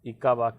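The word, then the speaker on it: Ickabog: देखिए इसका प्रोनाउंसिएशन ध्यान दीजिएगा, ई को मत समझ लीजिए, ECHO मत समझ लीजिएगा, ईको बॉग। तो आप पर्यावरण से जुड़े हुए किसी का नाम मत लगा दीजिएगा। यह इसका करेक्ट प्रोनाउंसिएशन है ईका, ICKBOG, ईका बाग, ईका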